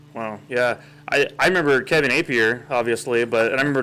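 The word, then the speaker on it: Appier: No, it's definitely Target, and it's definitely Apier.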